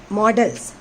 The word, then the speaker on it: modals: Actually, the modals are nowadays, they are pronounced as models.